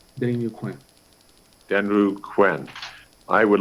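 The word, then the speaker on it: Deninu Kųę́: Denny New Quinn. Denny New Quinn. Yeah, I pronounce it with a W instead of a U. It'll come out a little better. Denny New Quinn. Denru Quinn.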